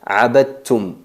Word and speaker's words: عبدتم: tienen diferentes características y se pronuncia abadtum. Abadtum, no se percibe el sonido del dal.